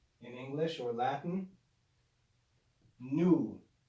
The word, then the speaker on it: nu: in english or latin nu it's pronounced with the classical n sound so you're going to